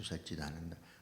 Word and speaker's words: Satchitananda: now what is this it is three syllables split them shut chit Ananda now in the brahma sutras rasa gives a different connotation to satchitananda a Steve Javie Priya